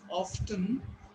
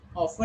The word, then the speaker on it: often: if you pronounce it often, often is also right. Remember, why it is right? Who will tell me? Often and often both are right. In British English, this letter T is silent, and you are going.